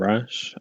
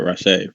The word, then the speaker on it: Rasche: it does sound nicer rash sounds like the word rash most people don't want